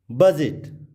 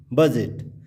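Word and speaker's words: budget: बजट, बजट, डी के बाद जी ई, बजट। तो आप समझ गए होंगे कि यदि डी के बाद जी ई हो तो डी साइलेंट हो जाता है।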